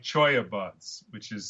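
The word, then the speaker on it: cholla: So then you take something like choya buds, which is spelled CHOA, Choalla.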